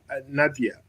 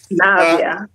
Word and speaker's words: Navia: Uh let's go to uh Nadia. I hope I'm uh pronouncing your name correctly. Right. Navia. Navia.